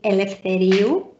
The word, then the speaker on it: Eleftheriou: say hi everyone i'm my surname is elf teriyu you have to try and pronounce it i even just heard you say